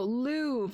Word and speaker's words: Louvre: mean the bottom no no no louvre the louvre is a giant art museum in paris not not the loo the lube l-o-u-v-e l-o-u-r-i-v-e i think is how it's spelled but it's a giant